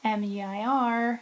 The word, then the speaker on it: Muir: But if it's M-I-U-R, it's Muir, right?